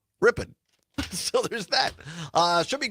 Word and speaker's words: Ripon: And also our great partners, WRPN in Ripon, or as the locals say, Ripon.